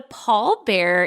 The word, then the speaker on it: pallbearer: But a Paul bear is spelled P A L L B E A R E R.